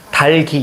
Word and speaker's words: 닭이: 이거 어떻게 해야 돼? 달기 이렇게 발음해야 돼? 이거 가지고 뒤에 거 발음한다고 해서 닭이 이렇게 하시면 안 됩니다. 알겠죠? 달기 이게 맞아?